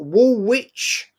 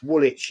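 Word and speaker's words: Woolwich: That you wanted me to meet you at Wool Witch. Wool Witch to go toe-to-toe and you couldn't even spell it. And you told me you lived in wool witch. It's woolitch.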